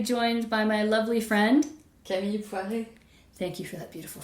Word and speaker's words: Camille Poiré: Today, I am very happy to be joined by my lovely friend, Camille Poiré. Thank you for that beautiful French pronunciation, Camille.